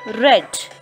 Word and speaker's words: read: different okay so second form of read is red not r e d red not color red r e a d